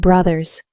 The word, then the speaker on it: brothers: So, make sure you pronounce that S at the end of brothers. It's a Z sound, actually.